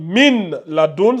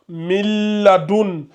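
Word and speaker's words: من لدن: Mais ici, on prononce pas clairement, on fait la fusion. Le noun et le lam vont fusionner ensemble. Donc ça donne miladon au lieu que ça donne min laadun ça donne miladun ici c'est maradun ici c'est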